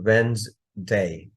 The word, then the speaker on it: Wednesday: যেমন যদি এখান থেকে আপনি ডিটা বাদ, সরি, এখান থেকে যদি আমরা ডিটা বাদ দেই, মনে করেন ডি আর ই নাই, তাহলে আপনি কি বলবেন? ওয়েন্স, তাই তো?